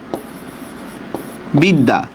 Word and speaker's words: বিদ্যা: শেষে, শব্দের মধ্যে বা শেষে জফলার উচ্চারণ দ্বিত্ব হয়। জফলার উচ্চারণ দ্বিত্ব মানে কি? 2 বার উচ্চারণ হবে, ঠিক না? দ্বিত্ব হয়। আচ্ছা, কিভাবে আমরা একটু দেখি। যেমন দেখেন বিদ্যা, বিদ্যা, দেখেন তো জফলার উচ্চারণটা 2 বার হবে কিনা? মানে জফলা যে বর্ণের সাথে সেটা 2 বার উচ্চারণ হবে। বরস্কায় বি, দ হসন্ত, দয় আকার, বিদ্যা, নাকি?